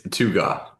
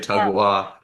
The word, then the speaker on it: Tugaw: It's Tugaw, Tugaw. it. I would have Yeah. nailed Tugaw. it. I would have nailed Most it. people say Uh, Tugwa, Tugin.